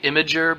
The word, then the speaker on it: Imgur: It's technically Imager, but you're wrong. It's Imgur, in my opinion. It will always be Imgur.